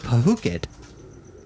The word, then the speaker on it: Phuket: word Phuket, in parentheses, it's pronounced Phuket. Are you serious? Yeah, because it's spelled Phuucket. Well, that's how we spell it. That's how they spell it in English. Right. And it sounds an awful lot like F it, Oh.